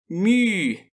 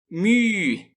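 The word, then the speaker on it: μῦ: Eu sei que esse U é um pouco difícil de pronunciar, mas não lhe custa nada tentar. μ. μ. Caso tenha sentido alguma dificuldade, saiba que até os romanos, ao absorverem o Y grego, não o conseguiam pronunciar corretamente. Mais tarde, eu lhe darei algumas dicas que o ajudarão a fazer o famoso biquinho.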